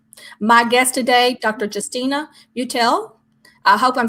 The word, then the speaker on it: Mutale: And my name is pronounced Mutale. Mutale. Okay. We didn't even correct that in the beginning. Okay, you're not the only one. A lot of people pronounce it the way they see it.